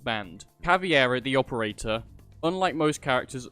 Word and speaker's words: Caveira: So to show you spots, I'm going to be taking you over to Caveira.